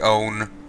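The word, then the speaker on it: Eoin: current would be here it's pronounced like own it's fine but I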